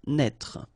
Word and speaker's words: naître: Naître. Okay, same thing here for the circonflex. Write it, but don't pronounce it. Naître.